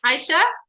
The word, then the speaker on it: Aisha: Yes, Aisha?